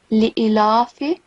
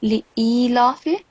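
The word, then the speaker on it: لإيلاف: So first of all, you said li'ilafi. This will be li'ilafi. So because alif is followed by ya of elongation, so make sure that you prolong it for at least 2 seconds consonant beats.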